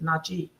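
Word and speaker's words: Natchez: Actually, the correct name for the pronunciation of Natches is Nachi.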